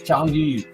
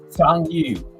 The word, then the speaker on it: Zhangyu: By the way, the pronunciation is Zhangyu. What was it again? What was it called again? Zhangyu. So imagine it's Jang and then You, Zhangyu.